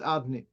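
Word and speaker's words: אדני: written Yudke Vavke, and the pronunciation though orally is Aleph Dalet. So we have here from this Gemara, Deshmi la'olam le'elem ksiv la'alem, to conceal, fine. So we don't pronounce Hashem's name Yudke Vavke. Instead, we pronounce Adni.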